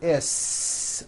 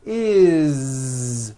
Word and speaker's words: is: It doesn't matter that it's spelled with an S. It's never is, unvoiced, never. It's always is with a voiced Z.